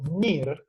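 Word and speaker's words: Neer: un hito muy importante que es el laudo NIR, que se escribe N-E-E-R, NIR, que estableció una norma consuetudinaria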